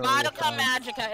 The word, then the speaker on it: Madoka Magica: How many times are we gonna Madoka Magica is how it's said, Jesse.